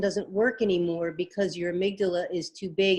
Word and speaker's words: amygdala: So is that with this, I don't even remember how to pronounce that. Is it the amygdala?